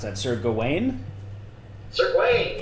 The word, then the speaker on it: Gawain: Sir Gawain, yes. That is the correct way to pronounce it.